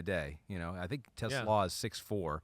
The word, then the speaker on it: TeSlaa: My expectations are pretty high, and it is pronounced TeSlaa. TeSlaa. Pete notes here. It's like I'm the first person. I mean, I've heard. I have to get that right as a Lions fan. Not TeSlaa, although it looks kind of like Tesla.